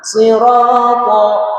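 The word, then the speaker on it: صراط: Jadi si bukan sin ya. Ada kadang kita bacanya ihdinas tapi si si. Nah, sirat huruf thnya dibaca tebal.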